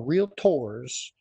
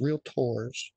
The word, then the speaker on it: Realtors: and little things versus big things, you know, realtors is how they're actually pronounced, realtors.